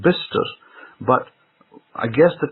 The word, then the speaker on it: Bicester: Now I remember that there's a road that was near to my house called Bister Road, Bicester. Now if I read it in the grammatical form, I would read that road as Bicester Road, because it's got Bicester.